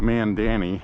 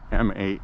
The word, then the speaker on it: Mamdani: I called him Mandani. It's actually Mam, M-A-M-D-A-N-I. Mamdani.